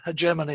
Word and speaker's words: hegemony: the chinese in germany i used to say hegemony but i'm told that hegemony is the right way to pronounce this but i apologize if